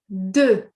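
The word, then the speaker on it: deux: D. So what do you notice? Did you see it's written with the X at the ends but we actually do not pronounce the X.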